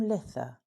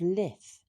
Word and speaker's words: Lithe: Tolkien's Lord of the Rings, the word does appear, as the hobbits celebrated their Midsummer's Day by the name of Lith, which is spelled Lithe.